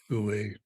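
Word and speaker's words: wu wei: It's often called Wu, pronounced Wu, spelled W-U-W-E-I, but pronounced Wu.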